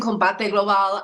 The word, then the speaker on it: Combate Global: I mean, and you're also part of the commentating team at Combate Global, right? Am I pronouncing that correct? Yes, you were pronouncing Combate Global completely correct.